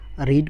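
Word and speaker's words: read: तो देखें, रीड को हमने रेड पढ़ना है, अली आलमोस्ट रेड।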